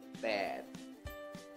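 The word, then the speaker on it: แปด: Suku kata yang mati karena dode di akhir suku kata. Jadinya nadanya siang e. Tapi di sini e panjang. Jadi dibacanya pet. Pet.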